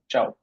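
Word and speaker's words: tschau: হবে গুড চাও আর দুইটা বানান দুইটার উচ্চারণে চাও সি আই এ ও চাও বা টি এস সি এইচ এ ও চাও দুইটা ইনফরমাল অর্থ ব্যবহার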